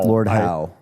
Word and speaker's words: Lord Howe: Lord Howe. But I always say Howie because of how it's spelled.